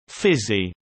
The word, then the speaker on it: physie: A physical culture practice for women, informally known as Physie, pronounced Physie, developed in Australia in the 19th century and continues to this day.